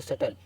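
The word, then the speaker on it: subtle: और डाउन और ये एस यू बी टी एल ई तो सटल ठीक है ना इसी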